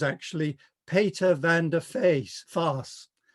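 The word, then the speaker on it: Faes: he thought that um english people wouldn't know how to pronounce fars because it looks like face so he adopted the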